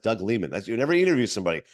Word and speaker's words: Doug Liman: Doug Leman used to always think it was Doug Lyman but it is pronounced Doug Leman that's youever you interview somebody you make sure